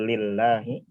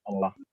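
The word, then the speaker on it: لله: Jadi bacanya gimana ini? Lillah bukan Allah.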